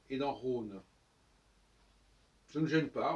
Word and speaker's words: Rhône: dans Rhin et dans Rhône. Ça ne gêne pas, on écrit Rhin, R-H-I-N, Rhône, R-H-O-N-E, ça ne change pas notre prononciation, ce qui est un